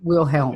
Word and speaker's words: Wilhelm: Helm, like on a boat. Oh, okay. Yeah, Wilhelm.